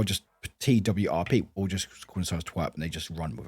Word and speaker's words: TWRP: uh wait is it is it actually is pronounced twerp yes it is actually called twerp yes uh